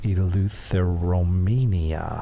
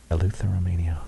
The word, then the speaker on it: Eleutheromania: he did, and I'm going to try to pronounce it. I believe it is Eleutheromania. Hey, that's great. Eleutheromania.